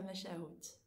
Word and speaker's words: Machahou: Ta Mesharou. J'ai jamais su prononcer, en fait. Ouais, tu le prononces bien.